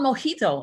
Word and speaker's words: mojito: i mean it wasn't mo how do you pronounce it it's called mojito i mean that's why they want to mess